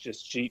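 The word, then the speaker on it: Jasjit: jason hi everyone uh my name is justjit uh it's spelled j-a-s-j-i-t last name is and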